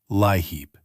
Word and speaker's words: LIHEAP: your state, and you may hear a caseworker pronounce it LIHEAP.